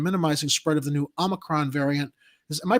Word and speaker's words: omicron: to tracking and minimizing spread of the new omicron variant is am i pronouncing that right i heard that there's like some speculation on how to pronounce that oh that's it's omicron it's an anagram of moronic i don't know